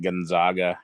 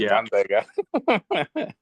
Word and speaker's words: Gonzaga: and stuff and uh it's fun hearing the announcers call it Gonzaga because they want to try to make it sound all fancy and stuff but no just gona oh that's such yeah